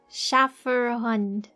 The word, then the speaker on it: Schäferhund: Schäferhund. I did my best. The most Americanized pronunciation.